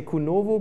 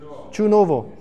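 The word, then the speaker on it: Čunovo: And for example, I always say Kunovo, but you said, how do you say it? Brandis? Kunovo? Chunovo.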